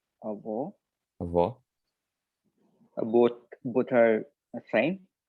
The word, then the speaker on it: avó: The ending, avô for grandfather, avó for grandmother.